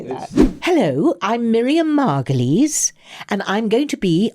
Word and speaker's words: Margolyes: How do you pronounce your name? Margolyes.